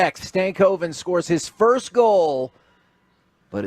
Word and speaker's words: Stankoven: It's Stank and Oven. So Stankoven is what we're going with.